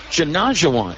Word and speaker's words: Janajawan: Yes, the first name is Janajawan. Rhymes with Olajuwon.